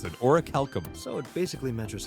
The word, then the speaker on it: orichalcum: So that's how you pronounce it, orichalcum.